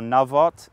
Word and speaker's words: Naboth: was coveting this is naboth's Vineyard or navot in Hebrew we'll go with the English pronunciation for this episode but